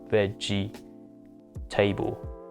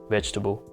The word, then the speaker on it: vegetable: schwa sound for example vegetable veg instead of veggie table vegetable so after all this